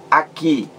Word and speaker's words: aqui: A sílaba mais forte é a última.